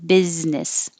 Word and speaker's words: business: could be helpful triumphant business that looks like an s in the first one but it's a z business and if you want